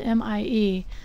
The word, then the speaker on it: Mie: It's spelled M-I-E, and it's named after the scientist who discovered it.